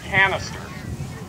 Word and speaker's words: canister: this round of ammunition that word actually rhymes with its name this is called canister canister and what you